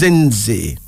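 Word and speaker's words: Zindzi: Our first female name is Zinzi. Zinzi. Z-I-N-D-Z-I. Pronounced Zinzi.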